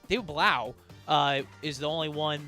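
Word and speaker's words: David Blough: Ian Raport says that David Blow is the only one who's I keep messing his name. David Blau, uh, is the only one that they've looked into, at least according to his reporting.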